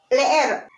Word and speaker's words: leer: Now, the thing is, with Spanish, it's not like in English that when you see two e's together, you're gonna pronounce it as I. It doesn't work that way. You have to pronounce the vowels individually.